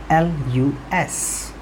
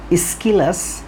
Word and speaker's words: Aeschylus: The spelling of the name of the writer is Aeschylus, and the 2 pronunciations that we get of this word, one is Aeschylus and the other one is Aeschylus.